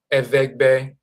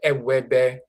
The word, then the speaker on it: Evegbe: And the language itself, Evegbe, instead of Ewebe, and so forth.